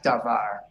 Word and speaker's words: davar: to place the accents generally speaking most Hebrew words are accented or stressed on the last syllable such as davar but we've already discussed